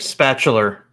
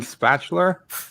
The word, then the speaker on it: spatula: tendency I've noticed to pronounce ours where none exist are yeah like spatular and uh yeah stuff like that there's no R in spatula well no it's spatula but they put an R